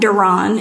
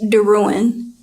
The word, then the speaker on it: DeRouen: My last name is not DeRouen, it's DeRouen.